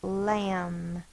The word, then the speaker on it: lamb: word we'll do is lamb L A the first sounds O A please write your a the correct way magic C up and touch down and bump M and the B is silent if you want to